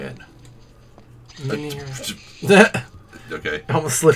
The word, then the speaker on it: Menhir: Yeah, Menhir. That's how they say it. Menhir.